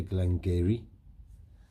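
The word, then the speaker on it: Glen Garioch: I know you're reading that and you're saying, well, that doesn't say Glen Geary. That's exactly what I said. But apparently it does. That's how you say it in the old Norse or Gaelic or wherever it is.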